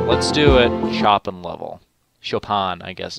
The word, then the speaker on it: Chopin: Chopin, I guess it's pronounced.